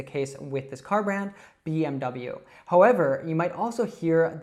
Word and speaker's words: BMW: It's just simply BMW. Now, a lot of learners want to pronounce acronyms like in their own language. Maybe you say every acronym as more of a word, like the whole sound.